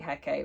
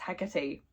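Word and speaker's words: Hecate: also I've just realized I keep saying heck when my little pronunciation guide that came with this book did tell me it's pronounced hecky you can't change me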